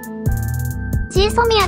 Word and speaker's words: GSOMIA: まずはこちら。GSOMIA って、なんて発音すればいいのか？毎回迷う。ジェソミアです。